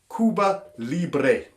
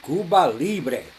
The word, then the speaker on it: Cuba Libre: You would find there is a drink there in Cuba called the Cuba Libre. Now, again, we're just going to check with Raul. Did I pronounce that all right, Raul? Muy bien, Cuba Libre.